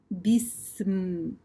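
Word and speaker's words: بسم: Бисм. Бисм. То есть мы произносим син, как бы мы и произносили бисми, да, и только в конце уже говорим не ми, а мим с сукуном.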